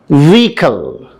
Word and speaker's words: vehicle: Ninth one, vehicle. Vehicle. British pronunciation, vehicle. But our American pronunciation, vehicle. Vehicle. Not vehicle, not vehicle. Vehicle. Vehicle.